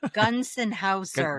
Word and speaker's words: Gonsenhauser: Gunsenhauser, just in Gunsenhauser.